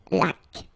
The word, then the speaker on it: laque: Remember the rule, when you get this Q-U, well, U is not pronounced, so you get K, like that. Une laque.